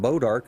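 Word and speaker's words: bois d'arc: But the reason they're called Bodark is because that's what they use to make bows out of. It's the a bow French arc, for Bodark.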